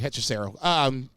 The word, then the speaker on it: Hechicero: I know, obviously they like Hechicero, but is it Hechicero? No, you said it right, Hechicero.